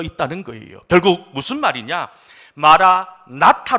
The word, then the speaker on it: 마라나타: 담겨져 있지 않습니까 이 마라나타 라고 하는 단어는 발음 하는 것이 매우 중요합니다 어떻게 발음 하느냐에 따라서 그 의미가 완전히 달라지기 때문이지요 먼저 발음하는 데 있어서 마라 띄우고 나타 라고 발음하면 어떤 뜻이 되냐면 영상으로 나오고 있지만 주님께서